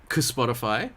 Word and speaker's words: CSpotify: So here is CSpotify. That's the official pronunciation, right, Tammy?